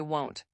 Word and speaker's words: won't: Ah yes, instead of will not, native speakers usually say won't. Examples, I won't forget, she won't come, they won't understand. Be careful with pronunciation, won't sounds different from want. That's a huge mistake learners make.